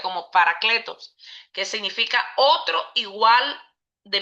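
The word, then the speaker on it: παράκλητος: Y cuando dice otro consolador, viene de una palabra griega que se llama, que dice eh se traduce como eh se pronuncia como paracletos, que significa otro igual de mi misma naturaleza.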